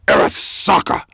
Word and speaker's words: Arasaka: That's how you say it, by the way. You don't say Arasaka, you say Arasaka.